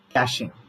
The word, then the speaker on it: caching: Next thing what I want to tell you is that is caching. Caching. It is not catching.